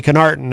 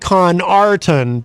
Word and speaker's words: Connarton: I put the emphasis on the ends when I shouldn't have. There we go with those words again. You put the emphasis on the wrong syllable.